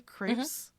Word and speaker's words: Krieps: So, I picked Vicky Creeps as, is that how you say her name? Creeps.